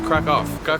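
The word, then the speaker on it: Kraków: to a new country we are here in Krakow in Poland but the correct pronunciation which I just learned approaches Krakoff Cove I've traveled my friend Steve that's me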